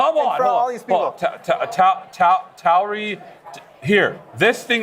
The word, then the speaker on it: Tauri: Is that how you say it? Tauri? How do you call it? You gotta stop using these words, bro. No, Tauri is a real thing. Tauri? Yes. Tauri. Has anybody heard that word?